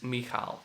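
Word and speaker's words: Michal: without C was outputted so the correct pronunciation of my name is mihal to be correct now there is also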